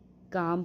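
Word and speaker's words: calm: ए एल एम है तो हम य पर काल्म नहीं पढ़ेंगे काम पढ़ेंगे और पाल्म नहीं पढ़ेंगे केवल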